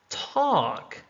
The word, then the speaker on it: talk: Comb, comb. Talk, talk. Wednesday, Wednesday. Right, right. So all of the letters in red are silent.